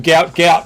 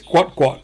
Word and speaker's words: Gout Gout: guo T is how it was supposed to be spelled and instead it's just been spelled g UT and so of course that's his name everyone's run with it everyone's just calling him gout gout and he's the biggest thing in hot bread but uh yeah unfortunately it's guat guat uh and so Australian